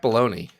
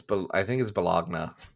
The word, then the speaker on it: Bologna: I think it's Bologna. Bologna. Oh, right. Yes. Like the French. The thing the French say.